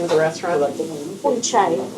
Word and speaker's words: Unchai: Unchai. It is Unchai. Unchai. Okay. Not unchai. Not unchai. Un is with warm.